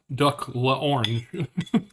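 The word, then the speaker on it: duck à l'orange: then what you oh I thought you were laughing at my pronunciation of duck laon cuz that is how they pronounce it duck La Orange never had it not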